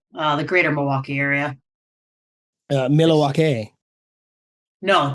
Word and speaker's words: Milwaukee: the greater Milwaukee area milake no don't pronounce the L that's how I know